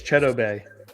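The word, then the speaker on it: Chidobe: media and he's like that's not how you say my name like it's cheddar bay and it was fun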